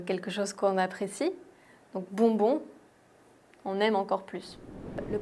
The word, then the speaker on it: bonbon: Le prochain mot est assez rigolo et très bien si tu veux t'entraîner à prononcer le son on. Voyelle nasale on, c'est le mot bonbon.